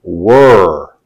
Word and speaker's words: were: look at were first we have three words that sound very similar they rhyme pronounce these words with me pure cure sure if you could pronounce these words pure cure sure you can hear the difference in the word were these three words rhyme with were let's look at where